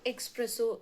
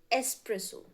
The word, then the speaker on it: espresso: It's not espresso, it's espresso.